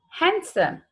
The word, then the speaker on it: handsome: Second one, handsome. Handsome. D was silent.